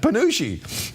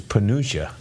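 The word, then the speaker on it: penuche: Panucci is pronounced just like that, Panucci, even though it looks like it's Panuccia.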